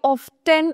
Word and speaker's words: often: এটাকে কেউ often উচ্চারণ করে, ওই ব্রিটিশ আমেরিকান প্রনাউন্সিয়েশনের ডিফারেন্স, বাট oftenও হয়, oftenও হয়।